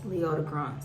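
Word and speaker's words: Leodegrance: of king leotta grant's leota bronze that's how you say his name of scotland and arthur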